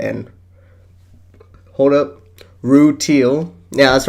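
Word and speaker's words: Rutile: a video on Pad Paracha and hold up, Rue Teal. Yeah, that's right. I pronounced it right this time. Screw you, commenters. I can pronounce the gems names right. Rue Teal and Pad Paracha.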